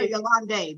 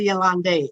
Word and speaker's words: Yolande: So people know how to I want to call her Yolande, but it's not a Yolande. It's Yolande. Yeah. It's Yolande.